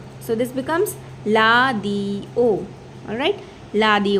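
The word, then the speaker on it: 라디오: So this becomes la di o. Alright, la di o. So the Koreans will not say, they cannot say radio, they will say la di o.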